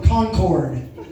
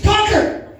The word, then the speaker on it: Concord: is San Francisco from Concord? I'm like, Concord, that's not how we pronounce it. We're not that sophisticated, okay? Right? Say it like you've done meth at least a few times. Concord!